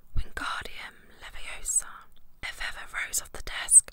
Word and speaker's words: Wingardium Leviosa: much more luck when guardium leviosa he shouted waving his long arms like a windmill you're saying it wrong harry had a mindy snap it's wingardium leviosa make the car nice and long you do it then